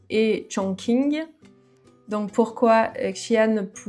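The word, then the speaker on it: Chongqing: Donc j'ai noté trois villes, attention à la prononciation. Shian, Shengdu et Chong King.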